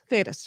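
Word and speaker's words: Thedas: no theyed us Theta status it's basically t-h-e-d-a-s thetas right that's that's how you spell it uh that came about because when the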